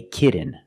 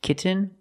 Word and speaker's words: kitten: change much kit um kitten but don't say kitten I cannot pronounce these T's as a fast D I cannot say kitten it's kitten or more commonly kitten no I want a